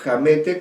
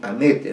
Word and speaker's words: Hamete: Luego viene la palabra Hamete, pero Hamete con H, o en todo caso la pronuncio así, porque podría haber pronunciado también Amete, ¿no? Pero para hacer evidente la presencia de la letra inicial, Amete, H-A-M-E-T-E, Cide, Hamete,